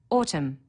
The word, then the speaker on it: autumn: needs a capital letter autumn a silent n on the end through one of the